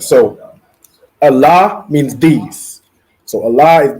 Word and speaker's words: Allah: So the I separate, La and Ha joined together. So Allah.